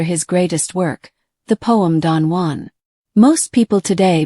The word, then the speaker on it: Don Juan: However, Byron was an Englishman who purposefully intended his work to be pronounced, no matter how incorrect it is, as Don Juan, with an emphasis on the Jew.